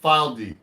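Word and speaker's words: Fylde: guitar made in England they've called this spelled f y l d e file d they know they exist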